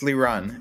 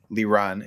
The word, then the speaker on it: Liran: dude i think i know how this is pronounced yeah it's uh it's li run it's a uh or liran it's uh it's an israeli name so in